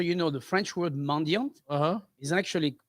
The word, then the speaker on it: mendiant: So mendiant, just so you know, the French word mendiant Uh-huh. is actually pronounced mendiant. We don't pronounce the T at the end, but also means beggar.